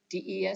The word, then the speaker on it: des: Des is pronounced de, and it means to the when the noun that follows is plural.